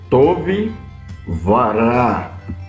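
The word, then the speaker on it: טוֹב וָרָע: Então nós temos aqui, por exemplo, tove vará, que significa tove é bom, ra é mal, o W aqui, que é o vav, é o e, então fica tove vará, é bom e mal.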